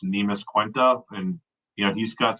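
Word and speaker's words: Neemias Queta: if want to say his nam's pronounced nemis quenta and you know he's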